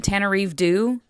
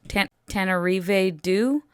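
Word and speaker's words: Tananarive Due: I think it might have been Tanarive, excuse me, pronunciation, Tanarive Due, Tanarive Due.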